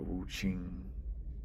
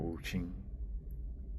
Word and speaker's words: Wuxing: specific, Wu Xing or Wu Qing, spelled Wuxing, and I think the X is meant to be pronounced like Qing, like a Ch.